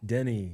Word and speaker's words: Denny: Denny. Denny. Yes, like a penny.